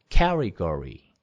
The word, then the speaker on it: category: 카테고리 이렇게 하는 것도 category, category, 캐고 여기 category 이렇게 하셔야지. 카테고리 태랑 리 뭐 태를 이렇게 강하게 하면 안 됩니다. category 이렇게 되고요.